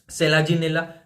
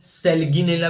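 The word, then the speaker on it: Selaginella: तो ये होता है भाई सेलाजिनेला या कुछ लोग सेलगिनेला भी बोलते हैं। तो सेलाजनेला या सेलगिनेला या सेलजीनेला सबका भाई अपना-अपना प्रोनाउंसिएशन होता है।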